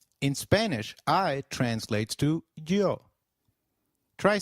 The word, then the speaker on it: yo: The Y is pronounced like the English Y in some areas, sounding just as it would in English, while in others it takes up the sound of the English letter J.